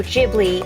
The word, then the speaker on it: Ghibli: in each bag a studio ghibli or Ghibli depending on how you want to pronounce it Kiki's Delivery Service